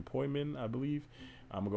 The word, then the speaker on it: poimen: But then if you come down to the exhaustive concordance, you see it's probably from P-O-I-M-E-N, poimen, I believe. I'm going to go back and pronounce it.